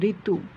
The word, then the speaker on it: ঋতু: দেখো আমরা ঋতু বানানে রি তয় রস্যকারের দিই, কিন্তু উচ্চারণ যখন নির্দেশ করব তখন রয় রস্যিকার তয় রস্য ঋতু।